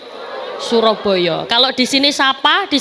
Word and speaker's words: Suroboyo: Karena di sana, bunyi "A" yang diucapkan orang sering berubah menjadi "O ," sehingga Surabaya menjadi " Suroboyo."